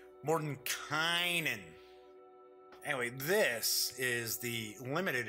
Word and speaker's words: Mordenkainen: I keep wanting to say Mordenkainen's, because to me it looks like it would be pronounced Kanan, but everybody is pronouncing it Mordenkainen.